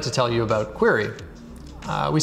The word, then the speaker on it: Qri: and today i'd like to tell you about query we spell query qri we pronounce it query you can pronounce it however you want i'm